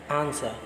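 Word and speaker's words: answer: letters in the word आंसर आंसर में कौन सा वर्ड है स्टाइल है आप यह पर बोल कर देखिए आंसर बोलेगा उसमें डब्लू का प्रोफेशन बिल्कुल नहीं करते हैं डायलॉग बोलते हैं यह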